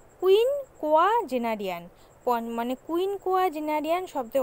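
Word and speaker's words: quinquagenarian: বছর বয়স তাকে কি বলে, এক কথায় প্রকাশ, উচ্চারণটা ভালো করে দেখবে, কুইন কোয়া জেনারিয়ান, কুইন কোয়া জেনারিয়ান, মানে কুইন কোয়া জেনারিয়ান শব্দের অর্থ হচ্ছে 50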